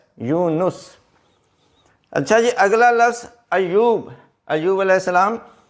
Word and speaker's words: ایوب: اچھا جی، اگلا لفظ ایوب، ایوب علیہ السلام، اس میں یہ ہے کہ یہ کے اوپر شد اور پیش ہے۔ بعض لوگ سپیلنگ انگلش